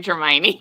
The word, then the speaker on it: Hermione: Oh, Hermione.